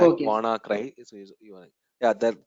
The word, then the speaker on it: WannaCry: WannaCry. You need to pronounce like want to cry virus. It's an US slang. Okay, sir. WannaCry.